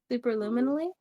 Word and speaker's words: superluminally: Superluminally?